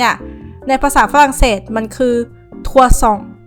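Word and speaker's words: trois cents: ภาษา ฝรั่งเศส มัน คือ ทัวซอง ทัวซอง ตอน เขียน เนี่ย มัน จะ มี s แต่ ว่า s ตรง นี้ เนี่ย มัน จะ ไม่ ออก เสียง เวลา อ่าน แล้ว เลข หลัก ถัด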